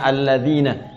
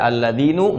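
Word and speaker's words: الذين: Karena itu dibacanya alladzina. Kita tidak baca alladzinu, nggak ada alladzini, selalu mabni tetap dalam harakat ini.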